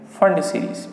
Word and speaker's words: Pfund: कौन सी सीरीज आएगी, फंड सीरीज, PFUND, P silent है, फंड सीरीज आ जाएगी।